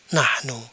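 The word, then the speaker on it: نحن: Kemudian kalau yang ini dibaca nahnu.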